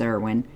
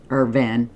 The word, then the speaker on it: Irwin: His name is Irwin. Irvin. I figured out today I was saying it wrong.